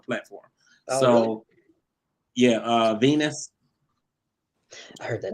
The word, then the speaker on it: V3NUS: yeah, Venus. I heard that name. Yeah, her name is spelled V3NUS.